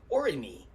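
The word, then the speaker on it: Aurigny: of two locations for orini that's the what i believe the french pronunciation for the company that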